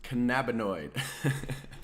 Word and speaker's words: cannabinoid: flavonoids and uh charlie if you're listening it's pronounced cannabinoid but no it's he picks up a good